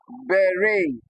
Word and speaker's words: beret: So although they end with e t they do not produce the short e sound like you see here. All right they possess a deep tongue instead. Okay. Because they are of French origin.